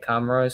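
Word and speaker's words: Comoros: Comro.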